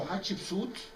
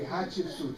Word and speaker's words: Hatshepsut: Anyway, so Hatshepsut, and I'll teach you an easy way to pronounce the name Hatshepsut, because after we finish the lecture, I will ask you to repeat the name, please. Yeah? Hat, ship, suit.